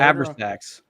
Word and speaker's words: Abrasax: Well, that's the Abraxas cult. I didn't know if but you were it's mispronouncing also it. Abrasax.